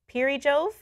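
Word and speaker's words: Perijove: to the equator um which bobic told me how to pronounce per Jo pass that's what should be called I'm sorry Bob I've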